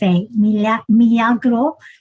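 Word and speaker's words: milagro: you call the drink it's m i l a g r o Ros M mro because the Spanish pronounce rosro Ros well there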